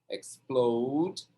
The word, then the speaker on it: explode: Tá vendo que é no plow a sílaba tônica. Explode.